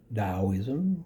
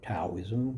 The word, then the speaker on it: Taoism: China they had confusion confusionism daoism or taoism whichever way you want to pronounce it and they were